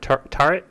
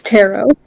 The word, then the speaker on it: tarot: cards uh uh like tarot card turret turret yeah like that word like fortune teller cards it's tarot tarot those things I can't